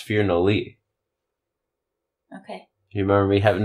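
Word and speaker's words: Firnadli: that one last weekend that one was at fear no Lee in Peoria Illinois uh that gym is ran by Phil or if you're not D no that's that's how it's spelled oh it's pronounced fear no Lee okay you remember me having this discussion yeah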